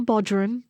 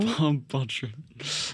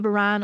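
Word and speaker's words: bodhrán: Um it's not a Bodger. So Bodin. Um and people either call it a Ban or a Baron. It just depends on pronunciation and dialect and that kind of stuff. I say Baron.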